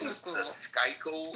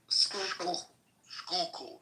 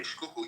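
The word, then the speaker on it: Schuylkill: Is it Skyo River? Skook. Skookul, not sky. No, it's a Dutch word. Okay. Skookul.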